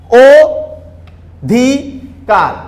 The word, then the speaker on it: অধিকার: খেয়াল করি, আমরা বানানে কিন্তু আমরা অ দিয়ে লিখি, আমরা উচ্চারণ কিন্তু অধিকার করি, ও ধি কার।